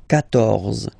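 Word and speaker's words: quatorze: So remember Q and U here, well, basically you get to put this U vowel, because that's the rule in French, even if you don't pronounce it, okay? So you will get the sound K here, K, 14, 14, okay?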